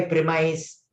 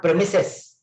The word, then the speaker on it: premise: What do you mean by premise? It is not premises. I'm sorry, the pronunciation is premise.